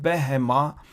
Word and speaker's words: behema: It is pronounced behema, and it means animal or a beast. Notice there is no Dagesh here. That's why we pronounce ve sound, ve live hem thecha. Here behema we pronounce with a ba.